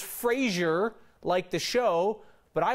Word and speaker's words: Fraser: do you say I would say it is pronounced Fraser with an ass ser Fraser the phrase the earth freezer so s ier